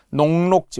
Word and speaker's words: 녹록지: 찌라고 발음하되 하가 탈락하는 이유 앞에 기억을 보세요. 녹록지 우리 농록하다 앞에서 이제 했잖아요.